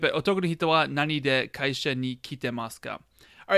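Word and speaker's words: 何で: If it's pronounced nande, it means why do you do whatever verb we're talking about.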